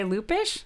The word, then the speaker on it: Lupish: We're here talking to Erica Sherwood and Lupish.